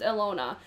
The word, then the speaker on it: Ilona: n o a i-l-o-n-a i think it's pronounced alona so i bought this